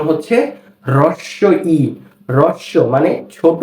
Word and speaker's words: হ্রস্ব ই: এরপর এই বর্ণটি হচ্ছে হ্রস্ব ই। এটা কি? হ্রস্ব ই। অনেকে এটাকে বলে হর্স্ব ই। না, হর্স্ব ই বলা যাবে না। এই বর্ণটির সঠিক উচ্চারণ হচ্ছে হ্রস্ব ই।